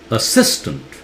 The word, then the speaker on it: assistant: Assistant, start with sis louder. Double S is pronounced single S. Okay?